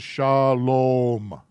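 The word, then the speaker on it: שלום: a v is a consonant but this is shalom not shalom i think there's a couple people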